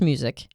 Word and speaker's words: Muzik: is to check out the podcast with bruce music they're great all of them it's spelled m-u-z-i-k so if you go to our